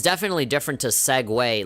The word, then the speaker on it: Segway: But yeah, like whenever I see it, I'm like, Segui? Like just, I don't know, like how do you pronounce Seg. But then when people say it out loud, Segway, I'm like, what?